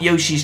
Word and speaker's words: Yoshi: it the same so despite it saying Yosi you still actually say it as Yoshi so so it's pretty